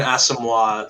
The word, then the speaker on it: Asamoah: get the names right people yeah it's Brian asamoah the second um we're gonna be doing that